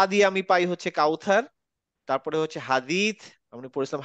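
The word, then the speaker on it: كوثر: কাউসার কাউসার হ্যাঁ কাউসার আমরা সারাজীবন বলে আসছি সূরা আল কাউসার কাউসার না কাউসার হ্যাঁ কাউসার এই কাউসার সূরার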